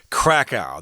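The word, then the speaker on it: Kraków: So for all intents and purposes, we're just going to say Krakow. That's how most people pronounce the name of this city in Poland.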